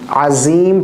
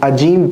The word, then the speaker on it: عظیم: عظیم پڑھیں گے، یا پھر بعض ہمارے انڈینز بھائی جو ہیں وہ عجیم پڑھتے ہیں، عجیم، یہ غلط ہے.